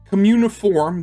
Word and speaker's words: cuneiform: I didn't know communiform, that's how you pronounce it.